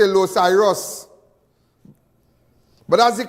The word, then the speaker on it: Los Iros: Some people say Los Iros. But that's the correct pronunciation. But my grandmother used to say Los Ciro.